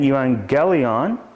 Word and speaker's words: euangelion: Euan, notice the double gamma here. The first one's pronounced like an N. Euangelion, and that means gospel or good news.